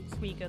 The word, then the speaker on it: Suiko: Suiko, that's how to pronounce her name.